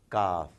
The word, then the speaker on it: Kaf: There is this special sound coming from inside the throat for Qaf, which is not exactly what is needed in this case. Kaf. You really are relaxed when you're reciting, so when you're pronouncing Kaf, but not quite as much when you're doing Qaf.